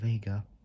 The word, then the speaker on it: Vega: at the end and Vega like saying like saying Vegas but take out the letter S and you get vega um FV FV2B uh 58 Honi was a Chinese car company CA72.